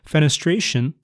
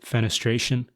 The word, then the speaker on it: fenestration: And I love the word because it sounds so weird and maybe a little aggressive because it rhymes with penetration, but it's not at all aggressive.